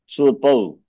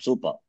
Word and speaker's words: सूर्प: Surpau. Surpau. एते के एते सूर्पाः. Supa, is it, Sharanji? Surpa. Surpa, okay. Not Supa.